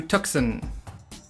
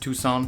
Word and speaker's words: Tucson: With that, let's hop on a train and head to Tuxen. I'm kidding. I'm kidding. I know this is pronounced Tucson, but I'm just wondering if anyone has already started angrily typing down in the comments.